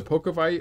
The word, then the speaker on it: Pokowai: so these are the pokeville arch i think i'm pronouncing it right that w is actually a v they are 229.99 and